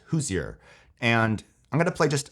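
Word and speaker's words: Hozier: It's called Take Me to Church by, I think it's pronounced Hoosier.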